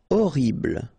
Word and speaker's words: horrible: Horrible. Okay, first letter is H, but then we don't pronounce H, so you don't pronounce it. And the first thing you hear is O, horrible. Meilleur.